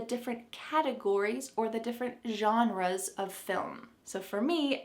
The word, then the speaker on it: genre: The first word is genre. Genre. This pronunciation is very English, but that's how we say it, genre, and it means the style of literature or movie or film or music.